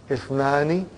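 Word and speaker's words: اثنان: That Ifnani, the Hamza is Hamzatul Wasal. If it is, if it comes in the beginning, it is pronounced. If it doesn't come in the beginning, then it is assimilated.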